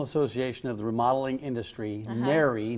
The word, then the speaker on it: NARI: of the remodeling industry mary not nori i know there's some debate about this nationally how to pronounce it mary at least one thing